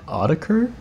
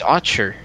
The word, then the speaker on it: Autechre: bit of them uh audiker is it audiker it's archer i'm pretty sure i'm a fake fan i'm pretty sure it's on it's pronounced archer but i don't know